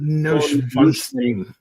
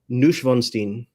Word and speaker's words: Neuschwanstein: How do I pronounce this? I told you they have the most goofy ass names. Shurigon Neuschwanstein. Neuschwanstein.